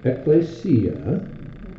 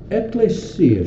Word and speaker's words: ecclesia: going to find is many of them will pronounce it Ecclesia. Ecclesia. In Spanish, it's Iglesia. Oh, yeah. Iglesia. Yeah. Iglesia Bautista. And the reason they do is because it's probably more of a classical pronunciation from classical Greek, because we get our word ecclesiology. So they think the Greek must be ecclesia. No, it's ecclesia.